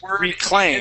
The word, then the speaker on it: reclaim: This word is reclaim. It has a long A in it.